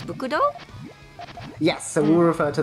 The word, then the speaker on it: BCD: And I know his name is spelled BCD, but I believe like how we read it in Japanese is Bukudo?